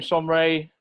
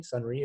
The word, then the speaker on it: Sonrai: I've got some Irish in me, and it's interesting that Sonrai, so it's pronounced slightly differently, Sonrai, if my Irish is good, I don't know if it is or not, is data in Irish.